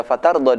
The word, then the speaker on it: فترضى: Akan tapi pada fatarda di sini tidak dibaca panjang. Karena apa? Ingat rumus cara membaca mat. Apabila ada huruf mat tidak bertemu dengan hamzah atau tidak bertemu dengan tasydid, maka cukup 2 harokat.